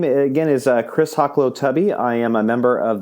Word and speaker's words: Hoklotubbe: week to have on my guest uh Chris haklow tubby did I do it yes that's it we